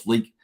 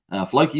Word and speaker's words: Floki: If you've got some Pulse Fluky, Floki, is it? Pulse Floki. Let me say it correctly.